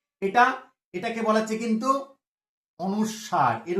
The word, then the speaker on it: অনুস্বার: এটা, এটাকে বলা হচ্ছে কিন্তু অনুস্বার, এর উচ্চারণটা কি, অনুস্বার, অ দন্ত নয় হস্যু, দন্ত শয়ে বয়ে আকার, বয় বিন্দু র, এর উচ্চারণটা কিন্তু অনুস্বার।